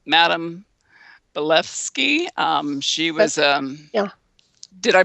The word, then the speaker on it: Blavatsky: There seems to be a lot of proof with the Sumerians, and there was even what is her name, Madame Blavatsky. She was Yeah. Did I pronounce?